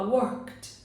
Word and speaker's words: worked: Então, vou falar worked, worked. Cadê o E? Ele, basicamente, na hora da pronúncia, ele também não existe.